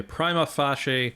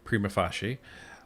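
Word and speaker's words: prima facie: called some people say prima FAS some someone some people say prima fashe um but however they're they're pronouncing it I believe the proper pronunciation is is prima fashi um what that means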